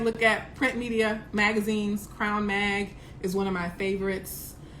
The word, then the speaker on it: CRWN: Crown Mag is spelled CRWN, so no O, just CRWNMAG, Crown Mag.